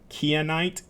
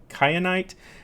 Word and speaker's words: kyanite: work on our pronunciation so it's keya night kyanite its let's see if